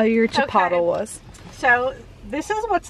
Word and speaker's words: Chipotle: exciting this is my first time ever having chipotle is that how you say it yes okay